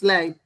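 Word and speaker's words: לײַב: I pronounce lab. No, Where's the so that's not right. That's not right. It's lab.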